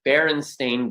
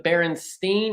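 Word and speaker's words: Berenstain: Because most people think it's the Baronstein or the Baronstein because a lot of people believe wholeheartedly that it is st i n at the end, but it is not.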